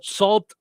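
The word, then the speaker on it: Sault: It's because of that that I knew how to say this because it's spelled salt s t e marie Michigan and I knew that wasn't right.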